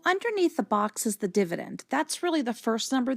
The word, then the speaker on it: dividend: So the way I remember it is the word divisor kind of sounds like divide, because the other word dividend is like a short I sound, instead of a long I sound as in divide, such as divisor.